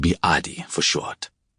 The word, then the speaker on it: Eddie: My name was, but friends called me Adi for short. In English, the name is pronounced Eddie.